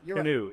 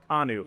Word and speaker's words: Kanu: Taught us in our interviews with Hero that it is not Kanu. Not Canoe. It's Hero Kanu.